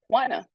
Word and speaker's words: Juana: My name is Juana. It is spelled Juana, and it's pronounced Juana.